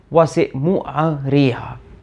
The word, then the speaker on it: Usermaatra: and in Egypt itself at the time of Ramses II we think that it was pronounced something like was it ra was very different similarly the epithet part